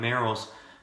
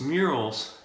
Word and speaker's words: Merrell's: on there and comment you're saying it wrong it's not merrell's just murals but that you know